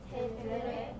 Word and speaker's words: tendré: Tendré. Good, tendré. You always hear that R there.